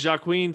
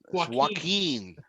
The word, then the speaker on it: Joaquin: you see joaquin phoenix this is jacqueline phoenix right joaquin joaquin oh because the jay is silent right yes yeah yeah